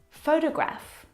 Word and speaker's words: photograph: of these words so in the first example photograph the first syllable is the stressed syllable you can hear it very clearly photograph o fo de Graaff the second syllable is unstressed and it is reduced down to the schwa sound a photograph photograph it's very short it's very lazy it's not very strong at all now if you look